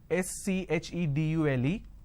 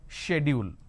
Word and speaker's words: schedule: i mean by this the british pronunciation is schedule and american pronunciation is